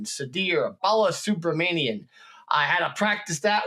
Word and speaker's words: Sudhir Balasubramanian: today s Bal sub Manan excuse me Sadir I'll say it again Sadir Bala subramanian I had to practice